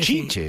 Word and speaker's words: Tite: Sí, la verdad que Chiche, sí. Chiche o Tite. No, bueno, es pero Tite. La pronunciación de Chiche Helblum.